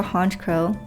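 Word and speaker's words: Honchkrow: They evolve into a hunch crow. I think I'm pronouncing that right cuz it's like crow, you know.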